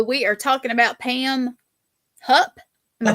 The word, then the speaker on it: Hupp: So we are talking about Pam Hupp. Am I saying it right? Yep. Hupp.